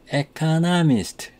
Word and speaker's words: economist: There are 4 syllables in economist.